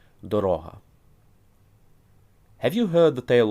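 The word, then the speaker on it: дорога: The pronunciation changes from Doroha, road, path, to Doroha, dear, expensive. Doroha.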